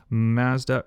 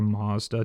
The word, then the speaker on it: Mazda: Mazda written on the back right there or Mazda depending how you say it.